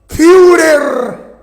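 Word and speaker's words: Führer: se hizo llamar Furer con dieres y cena. En alemán se pronuncia furer.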